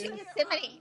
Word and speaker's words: Gethsemane: Gethsemane.